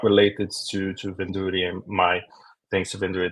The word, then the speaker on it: Vendure: You pronounce it Vendure.